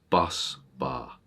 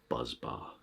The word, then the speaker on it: bus bar: Also, I'm going to take this opportunity to say bus bar. Bus bar, not buzz bar.